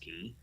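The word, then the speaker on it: Cay: Cruise Line called Castaway key but it's spelled k c a y but it's pronounced key so it's something like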